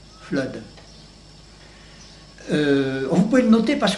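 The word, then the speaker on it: Fludd: Le premier de ces petits livres, Flood, ça s'écrit F-L-U-2-D, Flood.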